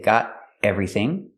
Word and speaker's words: got everything: the tea and got you can make a stop te and say got everything okay I think we've